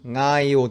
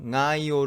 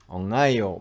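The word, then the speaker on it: Ngaio: 이라크 정도가 아닐까 해요 이 단어 앞에 나오는 ng 이거를 틀리게 잘못 발음하는 또 다른 방법은 이 소리를 받침 처럼 만들어서 발음을 하는 겁니다 그러니까 그 앞에 다른 발음을 조금 함으로써 ng 가 이번에는 단어의 시작 이 아니게 되는 것이죠 뉴질랜드 웰링턴 에 있는 동네 이름 나이 5 를 이용하여 그걸 과장해서 한번 해 본다면 않아요 혹은 머 엉 나예요 이렇게 하는 겁니다 그런데 이 소리 이영구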